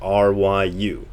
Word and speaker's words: ryu: as in Shunryu Suzuki, R-Y-U. And as in my birth year, I'm born the year of the dragon, Ryu. So R-Y-U is pronounced ryu.